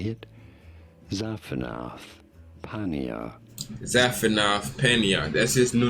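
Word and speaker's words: Zaphenath-Paneah: Zaphanath Paneah.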